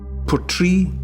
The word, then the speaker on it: Portree: Portree, it's spelt Portree, but it's from Gaelic. You know, Gaelic was the language of the Highlands for thousands of years. And it's port, as in port, somewhere you bring in a ship, a port.